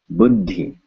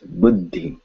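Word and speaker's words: बुद्धि: this weird shape and so we just add a small pause before we say should pause very good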